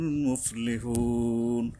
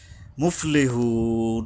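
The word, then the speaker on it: مُفْلِحُونَ: মুফলিহুন, এই যে হা উচ্চারণে সাবধান হতে হবে, এখানে লম্বা হা, গলা কিছুটা শস্য শব্দ হবে, একটু সময় লাগে এখানে।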